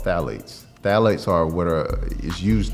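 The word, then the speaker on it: phthalates: label and you see phalates it starts with a P the p is silent but the phalates when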